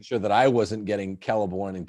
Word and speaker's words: Celeborn: I was just making sure that I wasn't getting Celeborn and Celebrimbor mixed up. You got that classical Latin pronunciation of the C, the same.